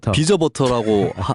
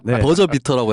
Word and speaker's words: 버저비터: 이제 벨 울리면서 넣는 골을 비저버터라고 하면 안 되죠. 버저비터라고 해야 되는데 제가 비저버터라고 했다고 저를 놀리는 댓글들이 황금 종료를 비웃으면서 비저버터라 그러냐.